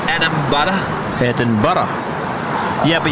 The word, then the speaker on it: Edinburgh: Edinburgh. Yeah, but you've got to start off with Eden and then Borough and then combine them together and go Edinburgh. Edinburgh.